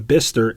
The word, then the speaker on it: Bicester: But Abelson provided a tour of Arrival's first factory in Bicester, England, a couple of hours drive northwest of London in early February.